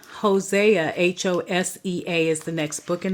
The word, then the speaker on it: Hosea: next book Daniel would be the next book Hosea Hosea h o s EA is the next book in the Bible Hosea